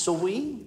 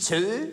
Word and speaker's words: Zoe: Ja, wie spricht man das aus, das Zoe? Eure Majestät hat es perfekt gemacht. Wirklich mit I? Ja, Zoe. Mit einem I? Zoe, so ungefähr. Zoe? Ja. Nicht Zö? Nein, auch nicht Zoe.